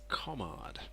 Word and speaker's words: Komarde: That's for all of you who are wondering just how it's pronounced. That's right, it's Komarde.